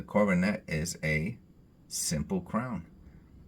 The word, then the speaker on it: coronet: so um the Coronet now that I know it's the schw makes it easier to pronounce the coronette that is a simple